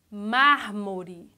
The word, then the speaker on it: mármore: Mármore. Mármore. Ó, a sílaba mais forte é mar. A classificação, proparoxítona.